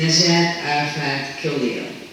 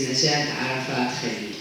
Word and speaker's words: Najat Arafat Khalil: My name is Najat Arafat Khalil. So this is the pronunciation here, but if I'm gonna say it in Arabic, it's Najat Arafat Khalil.